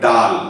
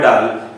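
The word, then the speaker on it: Dahl: Mention कराइस ताको नाटी रोअल्ड डाल डी ए एच एल ए एच टाको हमें कोड ना कोडी टिक साइलेंट रखुचे सेना टिक लक्ष्य करियो। Now that is the native speakers तांकर सेमती चाले सो we have to accept the fact that it इज रोअल्ड डॉट टिक उच्चारण करिबा एवं डाल रे एच टाको साइलेंट रखिबा।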